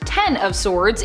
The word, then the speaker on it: X of Swords: it kind of was X of Swords pronounced ten of swords in relation to the tarot card is a mutant event